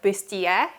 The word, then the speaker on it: bustier: It's usually pronounced closer to the French word -- like "bustier" -- and as you